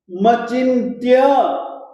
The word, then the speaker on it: मचिन्त्य: त्वामव्ययम् मचिन्त्य, मचिन्त्य, इस न का उच्चारण आप अनुस्वार के रूप में ही करेंगे, मचिन्त्य।